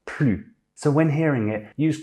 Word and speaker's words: plus: Thirdly, when it's attached to a noun via de, we also pronounce it plus.